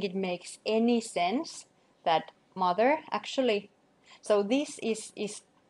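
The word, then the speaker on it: mothur: I don't think it makes any sense that mother actually so this is is spelled mother not Mo M or something and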